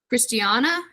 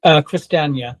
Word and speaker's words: Christiania: Okay, so then Robert, from that point, let's fast forward to Christiana. Am I saying it correctly? Christiania, yeah. Christiania.